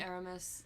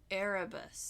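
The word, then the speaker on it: Erebus: e bu u s oh arabus arabus what did I say I heard aramus oh no arabus so Franklin was the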